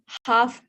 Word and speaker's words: half: So this is all calf, calves, calves, calves, half, halves. Please focus on the pronunciation. Don't pronounce L in these words.